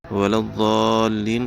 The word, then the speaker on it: الضالین: ہم ہجے کرتے ہیں۔ ولا الضالین کا ہجے اس طرح سے کریں گے، واو زبر و، لام ضاد زبر لظ، ضاد الف لام مدہ زبر ضال، لام یا زیر لی، نون زبر نہ، ولا الضالین۔ امید ہے سبق